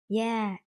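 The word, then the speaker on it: dơ: Yeah, it is pronounced yeah, like the Y sound.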